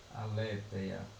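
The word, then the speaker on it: ἀλήθεια: Eh, a alte é a palavra alia se pronuncia assim, a le aleteia.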